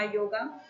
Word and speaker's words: योग: तो आर ए एम ए राम को इस प्रकार से लिखा जाएगा। परंतु यहां पढ़ने में रामा हो जाता है। इसी प्रकार से आपने देखा होगा कृष्णा शब्द और इसी प्रकार से आपने देखा होगा योगा शब्द। यद्यपि मूल रूप में ये शब्द क्या है? राम, कृष्ण और योग।